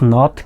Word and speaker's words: know: এখানে কে উচ্চারণটা হয়নি, হয়েছে নো।